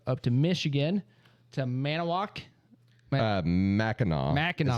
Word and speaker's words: Mackinac: Mackinac. Mackinac. Is how it's pronounced. Even though it Mackinac. looks like Mackinac. Mackinac or Mechanic or Nope.